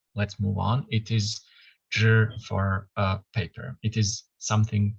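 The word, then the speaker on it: 纸: or a clan, but is pronounced shi, which sounds like zhi. I don't know the Chinese logic for that, but let's move on. It is zhi for paper.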